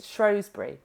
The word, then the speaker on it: Shrosbree: where yeah starts say no one can pronounce my surname it's shos but I think you have to say it the really English accent English shry oh get